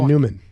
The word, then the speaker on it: Neumann: It's Neumann or is it Newman? Neumann.